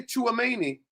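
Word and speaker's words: Tchouaméni: Because to way to say Chuani, I ain't spell his name. Chuani. I can spell it for you.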